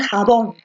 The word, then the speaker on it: jabón: pásame el jabón o tú dices pásame el jabón pásame el jabón no entonces la fuerza de voz está en